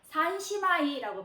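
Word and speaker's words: 三姉妹: 그래서 뭐 세 자매입니다 라고 하면 산시마이라고 발음을 하시면 되겠는데요.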